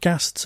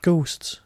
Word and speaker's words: ghast: Again, with pronunciations, you're talking about ghasts and not ghosts.